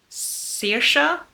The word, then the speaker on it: Saoirse: Because Saoirse is how it's supposed to be pronounced, is her mom has Alzheimer's.